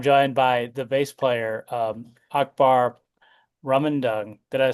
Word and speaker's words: Akbar Rumandung: And I'm joined by the bass player, Akbar Rumandung. Did I say that correctly? Uh, I probably didn't. yeah, it's Akbar Okay. Rumandung, but I know it's hard to say that, so Yeah, it's yeah, yeah.